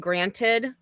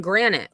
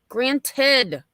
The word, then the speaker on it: granted: and she's still saying Granite like just it's not Granite Betty granted yep but they didn't